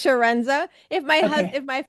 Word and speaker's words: Chiarenza: The like an S, so it's Sharenza.